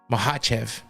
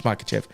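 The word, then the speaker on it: Makhachev: the fight between is Islam mahv if you want to say it correctly but it's makev whatever that's what we all say because that's how it looks and we're American and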